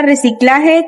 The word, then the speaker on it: reciclaje: De ahí tenemos la palabra reciclaje, que es una palabra grave porque su sílaba tónica es la penúltima.